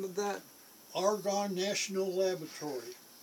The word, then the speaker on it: Argonne: the name of that argonne national laboratory argon a our G a hard g 00 n n N